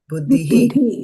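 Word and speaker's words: बुद्धिः: buddhihi the intelligence buddhi intelligence yeah not buddhi buddhihi buddhi buddhi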